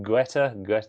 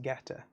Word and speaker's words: Guetta: Is it Guetta? Guetta? I believe it's just Getter.